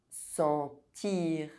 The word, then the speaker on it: sentir: Otherwise, EN is pronounced en. Argent. Sentir. Gencive. Enfant.